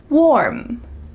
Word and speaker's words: warm: Warm, warm, warm. Make sure that this is one syllable.